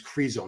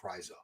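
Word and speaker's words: Krizo: Ko wasn't going to beat or someone wants me to say Kryo, but no. Everyone pronounces a KZO, guys. Everyone I've ever heard say his name. It's Crezo, not Kryo.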